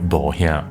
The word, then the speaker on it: Bohea: The Hokkien pronunciation of Wuyi is "Bohea," which is the birthplace of the famous Da Hong Pao tea.